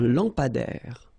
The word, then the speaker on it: lampadaire: Un lampadaire. Final E not pronounced. Un lampadaire.